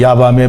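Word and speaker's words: יבם: 우리말로 니야 받는데 밤에 야밤에 보통 도망가라 이러냐 반 도전했다 이런 야밤에 아니구요 히브리 5 발음으로 야밤 합니다 a 아 밤 이라는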